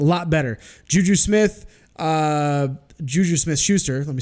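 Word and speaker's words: Smith-Schuster: subtraction right a lot better juju Smith juju Smith Schuster let me say it correctly James Connor those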